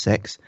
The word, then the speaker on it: CEX: It's spelt CEX but pronounced sex.